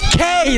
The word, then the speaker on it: que: bunch of silent letters the word q it's q-u-e that's k that's spanish isn't the